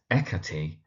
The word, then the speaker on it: Hecate: But actually, in terms of how her name is pronounced more generally, in terms of mythology and culture, it's Hecate, Hecate, or actually, if we turn to the Greek, it's Ekate or Ekate.